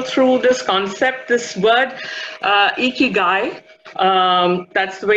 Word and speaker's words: Ikigai: take you all through this concept this word Ikki guy that's the way it's pronounced Ikki guy it's a Japanese word and what it basically